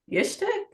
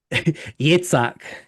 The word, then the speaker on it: Yitzhak: Um, you have Hedwig taking off the wig and passing on the persona to I'm gonna say that name wrong again. Yishtik? Yitzhak.